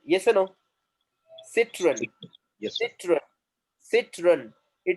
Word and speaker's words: Citroën: Now, if you see here, citron. It is what? Two syllable word. Yes or no? Citron.